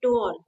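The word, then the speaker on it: tour: One word is guided टूर या अच्छा टूअर बोलते हैं। The right pronunciation टूर okay but हमारे यहां पे टूअर ही सुनना पसंद करते हैं तो टूअर ही बोल रहे हैं।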